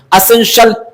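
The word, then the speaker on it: essential: अगला हम लोग चलते हैं एसेंशियल S double S इ एन एसें us accent T आई ए श एल एसेंशियल एसेंशियल का मतलब होता है क्या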